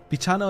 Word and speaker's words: bichano: Bichano is how you say kitty in Portuguese, but it's short. So writing with an E makes English speakers pronounce it right.